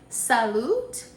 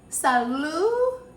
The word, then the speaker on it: salut: my French on y'all salute no let's start over the tea is silent Sal Asante Sal Asante J